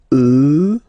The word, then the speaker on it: eux: So the masculine form will change and you get the sound e, remember, final X not pronounced, e, and then plural elle, elle.